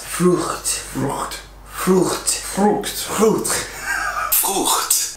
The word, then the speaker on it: Frucht: That's the CH sound that Americans do not usually pronounce. Frucht.